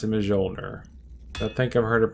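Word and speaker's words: Mjölnir: I pronounce it Mjolnir. I think I've heard it pronounced Mjolnir.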